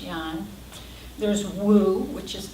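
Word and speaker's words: Yang: the Yong which is why ang but it's pronounced Yong there's Wu which is w u and then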